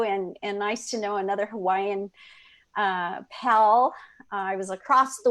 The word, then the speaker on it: Hawaii: We're going to walk you through the Ho'oponopono, the make right twice, self-forgiving technique from Hawaii. Hawaii, properly pronounced.